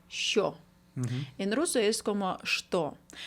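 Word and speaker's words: що: Se pronuncia así como, «sho».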